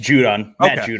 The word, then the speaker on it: Judon: you say that guy's name right yeah just judon all right yeah so like where is he